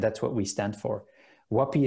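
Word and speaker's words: Huapii: what we stand for wapi is not easy to spell it's h u a p i i so one p two i's yeah that's wapi uh there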